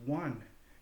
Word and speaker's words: one: It's actually a closed syllable pronounced one with a W and an N surrounding a U.